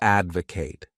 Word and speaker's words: advocate: The next wonderful verb is to advocate. This word has 3 syllables, and the stress is on that first syllable.